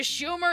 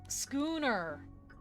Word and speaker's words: schooner: Schuner pronounced like school. Oh, schooner.